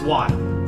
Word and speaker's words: won: Thank you for the 5,000 Wong. Is it W? Wong. Not Wong. All right, it's Juan. 5,000 Korean Juan.